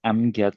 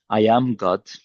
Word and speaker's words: Amad: Amad some guys just pronounce it as an as angry guy. I'm not angry. Some guys announce it or sorry, pronounce it as I am God. Definitely I am not God.